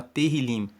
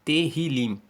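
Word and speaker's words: Tehilim: o nome o livro de salmo se chama terril se escreve t e h i l i m terril e significa louvores o livro de Salmos se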